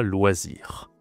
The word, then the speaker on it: loisir: Un loisir, je dois expliquer c'est quoi loisir. Alors loisir, ça se prononce loisir.